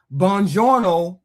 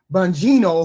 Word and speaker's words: Bongino: Bongiorno, I keep saying his name wrong. Bongino, whoever, he was just an underling somewhere along the way.